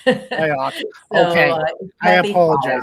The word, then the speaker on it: Fyock: It's Fyock. Fyock. Okay. I apologize. Fyock.